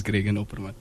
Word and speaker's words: Gregan Opperman: And so our guest today is Gregan Opperman. Am I pronouncing it correctly? Sure, that is yes, sir, that is Gregan Opperman.